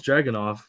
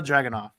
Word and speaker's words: Dragunov: pronounces this guy's name right. Oh man. Well, I know it's Dragunov, but Okay, that's good enough. Ilya Dragunov.